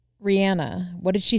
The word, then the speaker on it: Rihanna: heard this week that maybe her name's pronounced Rihanna it is did you I saw those two where she confirmed that but everyone calls her Rihanna so then what do